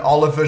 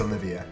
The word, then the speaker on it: Olivier: The Inazuma 11 Oliver Giroud over here. Olivier Giroud? I think it's Olivier. Really shouldn't know my pronunciations.